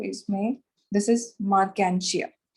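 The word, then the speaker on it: Marchantia: एंड इस example का नाम है जो इसमें, दिस इज मार्केंशिया। कई लोग इसको प्रोनाउंस करते हैं मार्चेंटिया, तो इट इज नॉट मार्चेंटिया, इट इज मार्केंशिया।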